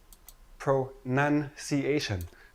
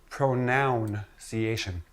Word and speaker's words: pronunciation: start with this word pronunciation pronunciation not pronounciation not pronounciation it is not a pronoun it is not a